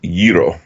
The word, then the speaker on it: gyro: I've ever actually actually Peters pronouncing it wrong also yeah how it's it's euro gyro that's the Greek I don't like you